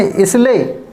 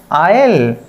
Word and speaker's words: isle: ठीक, वैसे आप पढ़ेंगे अगर रॉन्ग तो कैसे पढ़ेंगे, इसले, इसल, तो इसको हमें ऐसे नहीं पढ़ना है। अब हमें कैसे प्रोनाउंस करना है, आयल, इसका मतलब होता है टापू, आयल।